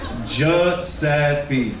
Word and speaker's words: Giuseppe: Well, how do you say it? J Sappi. Simple as that.